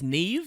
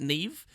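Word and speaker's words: Niamh: Well, it's Niam here. Or, didn't people say that apparently this is supposed to be Irish or something, and it's Neve? You're supposed to pronounce it Neve?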